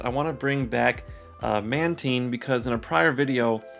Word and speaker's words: Mantine: doing some research, but it is a combination of manta ray and like the marine, marine biology, so Mantine.